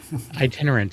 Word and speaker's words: Itinerant: If we don't talk to you before then, and be on the lookout for how do you pronounce the name of the movie again? Yeah, Itinerant, because I had to Google it because I'm